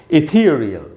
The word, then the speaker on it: ethereal: तो इसका प्रोनाउंसिएशन है दोस्तों इथीरियल। इसमें थी में जो ई है, बड़ी ई, उसी को अंडरलाइन किया है मैंने, वहीं पर स्ट्रेस है, यानी वहाँ हमको ज़्यादा रुकना है।